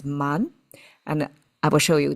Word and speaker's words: 谩: Okay, so man, I have to use this one of the two meaning, two pronunciations and meaning. It means deceive. One is man, and I will show you the other meaning later.